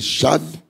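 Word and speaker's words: שָׁוְא: O substantivo shau, pronuncia-se chave, significa vaidade, vacuidade.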